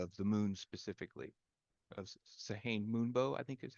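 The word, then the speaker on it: Sehanine Moonbow: uh, like Katha of the moon specifically, of Sahane Moonbow, I think is how you pronounce it.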